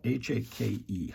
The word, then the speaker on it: hake: So it's spelled H-A-K-E, Hake.